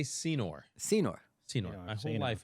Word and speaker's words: Senor: please do Dan yeah Dan sonor I believe it's pronounced Senor I by the way